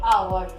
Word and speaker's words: hour: Here, H is also silent letter and O is first speak letter. So, O is vowel and before vowel, we will use the article and. So, this is an hour.